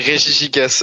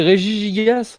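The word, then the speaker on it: Regigigas: il y a une réforme sur la prononciation des Pokémon, ça se dit Régis Gigas.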